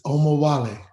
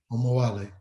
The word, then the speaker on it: Omowale: And at the risk of mispronouncing it, I'd like for you to pronounce it so I don't butcher it too bad here. It's Omowale. Omawale. Omowale.